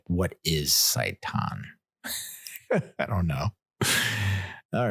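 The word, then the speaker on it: seitan: did pick up like Satan I know I know it sounds like I'm mispronouncing Satan but sa saiton it's kind of like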